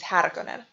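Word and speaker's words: Härkönen: the name originally was harakanen not sure how frank herbert thought the name was supposed to be pronounced but the correct pronunciation of the original name is haragonen herbert wanted a harsh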